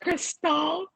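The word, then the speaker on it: Krystal: bad Mrs and miss Crystal oh okay it's pronounced Crystal okay we have Safina and Crystal okay uh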